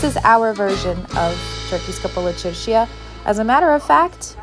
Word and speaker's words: Kapalı Çarşı: Welcome to Bulgaria's Kapalı Çarşıya. I know it's pronounced Kapalı Çarşı, but I like to say Kapalı Çarşıya.